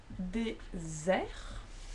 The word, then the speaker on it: désert: pudding, because this is désert, and that's the Sahara. It's one vowel, vowel, one S, therefore pronounced as Z, which is not the